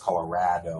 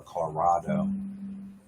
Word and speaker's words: Colorado: But yeah, I can always tell where people are from by their raw or their ra. Whether it's Colorado or Colorado.